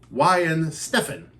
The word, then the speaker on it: Weihenstephaner: something from and it tells me how to pronounce it why and Stefan I'm Stefan yes so this is the world's